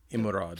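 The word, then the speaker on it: Emeraude: Well, it's not Emerald. It's E M E R A U D E. Irod. So, probably Ide.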